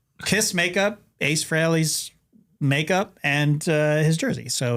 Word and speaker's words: Frehley: which is actually a mispronunciation of Ace Frehley. He pronounced his name Frehley, I think. Okay. But then he released an album called Fraley's Comet. So I don't know. Maybe it's Fraley.